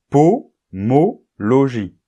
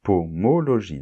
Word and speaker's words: pomologie: sens du mot pomologie on voit qu'il n'y a pas de nasal c'est pomologie parce que après la graphie om on a une voyelle la voyelle o et donc il n'y a plus de nasal ça ça casse la nasale et on dit pomologie d'accord et c'est la